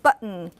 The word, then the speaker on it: button: So in number 1, you can say kitten and button. And then their environment is it's after a vowel before a syllabic nasal.